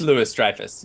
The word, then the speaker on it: Louis-Dreyfus: well, I mean, that's like now it's you're like a- now you're breaking my brain because I've been saying Julia Louise Julia- Dreyfus for my entire life.